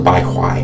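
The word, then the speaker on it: bai hui: It's the fontanelle area here, this the baby soft spot, the bai huai, I believe it's how it's pronounced in Mandarin.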